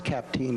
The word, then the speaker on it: Capteen: The Capteen case involved a student, Tammy Capteen, and I checked over in Conrad, and it's Capteen is the pronunciation, she was a student at the Conrad Christian School.